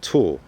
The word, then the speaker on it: tulle: create my fabric tent this material is called tul it's spelled t l l e and you can